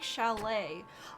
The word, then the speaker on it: chalet: Because it's French, so it's CH, a chalet.